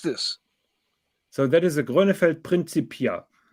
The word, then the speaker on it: Grönefeld: They have the hard G. It's Grönefeld.